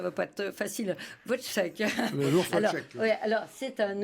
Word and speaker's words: Wojciech: Prononcer son nom. Oui, alors attendez. Si elle m'écoute, ça ne va pas être facile. Wojciech.